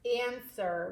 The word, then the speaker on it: answer: a and F wer answer we don't really hear the W we don't say ants were right answer has a silent W in it write that one